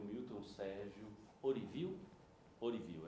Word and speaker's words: Ourívio: Orivil, é assim a pronúncia.